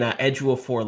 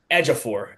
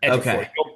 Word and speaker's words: Ejiofor: because I keep saying Ejiofor like the actor. It's Ejiofor. Ejiofor. You I've heard people say it that too, but it's it's like Ejiofor. You just don't pronounce the O, but Yeah, I'm full